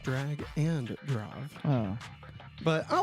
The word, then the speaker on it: Drag x Drive: Apparently, it's pronounced drag and drive.